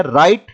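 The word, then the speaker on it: write: बाद next word है राइट राइट में व साइलेंट रहेगा राइट का मतलब होता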